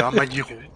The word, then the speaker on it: Amagiro: C'est Amagiro, c'est pas très difficile. Tu sais bien dire Miyazaki, bah, c'est presque pareil.